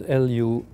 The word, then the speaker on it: Luhrmann: I don't know how you pronounce her name. I've never met her. It's Luhrmann.